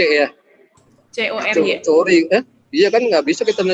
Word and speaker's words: Cory: Cori. Iya kan nggak bisa kita jadi dengan K gitu. Walaupun dibacanya Kori, kenapa sih?